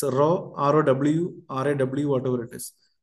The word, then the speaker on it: rho: Its pronunciation is, I can say, R-A-W, you can say. It's rho, R-O-W, R-A-W, whatever it is.